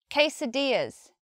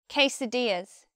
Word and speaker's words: quesadillas: one we say quesadillas quesadillas two stresses in this word main stressful D quesadillas next we have any